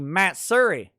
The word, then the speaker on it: Matsuri: how to properly pronounce matt suri uh no listen whatever you may think about anime matsuri it's a it's a texas place so it's actually matt surrey that's that anime matt